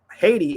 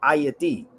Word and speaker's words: Haiti: Haiti is not called Haiti. Hate come from the Haiti come from the word hate. It's called ayati.